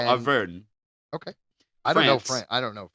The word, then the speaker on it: Auvergne: I believe that, the G is silent, so Auvergne.